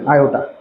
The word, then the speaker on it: আয়োটা: ঠিক আছে, আই বা ভালো নাম হচ্ছে আয়োটা, বাংলায় আমরা এটাকে এইভাবে উচ্চারণ করতে হবে, আয়োটা।